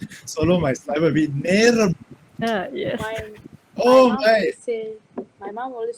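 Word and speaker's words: நேரம்: Naram. Did I pronounce it correctly? I don't want to offend anyone tonight before even starting the session. Naram, is that correct? Okay. Hakka Tamil is Neram. Neram. Yes.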